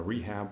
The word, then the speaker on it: rehab: rehab process and a rehab process the first word is pronounced rehab which is short of short for rehabilitation but in a shortened version you pronounced the H sound we have and also